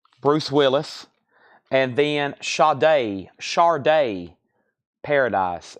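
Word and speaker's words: Sade: Willis and then Shard Shard day Paradise I know it's spelled sad D you pronounce it Shard Shard my name is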